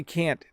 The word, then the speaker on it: can't: me saying those again when i say can't there's just a slight t sound at the end okay so um yes